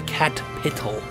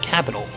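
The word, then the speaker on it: Catpital: And yeah, then over here by the cat petal, you have to say it right. It's very cat themed. So, you know, this is the cat petal, not capital, cat petal. Get that shit straight, please.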